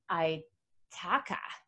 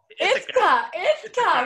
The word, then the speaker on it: Ithaca: Rusty lives beside a creek with his family in Ithaca. Did I say it right? No. What is it? Ithaca.